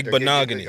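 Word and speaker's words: Igbinoghene: I'm glad I was worried about you pronouncing Noah's name, so I'm glad you Igbenogany.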